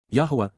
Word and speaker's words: Yahweh: two more than find in both tets combined Yahweh Yahweh the proper pronunciation of the name of eloah God as